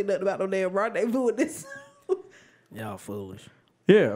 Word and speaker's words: rendezvous: How did you just pronounce Rendezvous? Rendivorous.